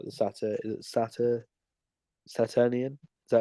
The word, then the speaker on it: Saturnian: people of a certain type, especially like the Saturnian? Is that how you say it? Yeah, Saturnian, Saturn.